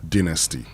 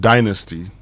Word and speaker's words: dynasty: Yeah, the traditional grammar and everything, you know, it's important we go with a British pronunciation. Okay. So, dynasty. But if you said dynasty, you wouldn't be wrong.